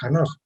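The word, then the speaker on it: חֲנוֹךְ: El libro de Hanoch, se pronuncia Enoch también, ¿verdad? Pero en hebreo es Hanoch, Enoch o Enoch, también fue discriminado, aprovechando, ¿no?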